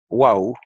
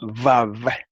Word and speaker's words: Waw: la letra hebrea Waw, que en hebreo moderno se llama Vav, pero en hebreo antiguo se llamaba Waw. Y en el hebreo yemenita de los judíos yemenitas todavía se llama Waw y se pronuncia U.